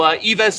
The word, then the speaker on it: Ives: I've been calling him Ives the whole time, just like chives, and I think that's been definitely very wrong. And so, Ives is the proper way to pronounce your name.